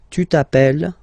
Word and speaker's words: appelles: I mean, you write them like here without S, here with S, and here with E and T, you pronounce them the same way. Je m'appelle, tu t'appelles, il, elle s'appelle, elle s'appelle.